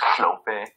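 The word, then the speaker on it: Hlophe: And another syllable is it's HL, so it's Hlope. So you're like, I'm Hlope. And it sounds like you have a spit on the side of your mouth. And oh, usually HL.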